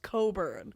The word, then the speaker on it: Cockburn: Is it pronounced Coburn? No. Okay, he told me that's actually pronounced Coburn.